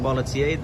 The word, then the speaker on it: Barlatier: I'm here with Marcel Barlatier, right?